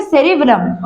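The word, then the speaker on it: cerebellum: Okay, तो एल यहाँ पर साइलेंट है, इसको बोलेंगे सेरिबेलम।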